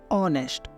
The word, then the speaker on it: honest: ठीक इसी तरह से HONEST, ऑनेस्ट, ऑनेस्ट, यहाँ पे भी हम ओ से पहले एच आ रहा है तो यहाँ पे भी हम एच को साइलेंट कर देंगे, ऑनेस्ट।